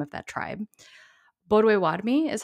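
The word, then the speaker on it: Bodéwadmi: is the correct even though anglicized way to pronounce that name of that tribe boduewadmi is how we would how it would be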